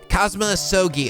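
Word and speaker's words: Kazuma Asogi: it's my best friend's name not mine it's pronounced cosma sogi oh hey this bowl soggy without uh the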